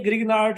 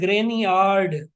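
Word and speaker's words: Grignard: सर कहते थे ये ग्रिग्नार्ड रिएजेंट नहीं है, इसको पढ़ते हैं ग्रेनियार्ड, ग्रेनियार्ड रिएजेंट पढ़ते हैं इसको, ग्रेनियार्ड रिएजेंट।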